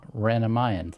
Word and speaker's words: Ranamayan: You're a Ranamayan. That's how you pronounce it, right? Yes.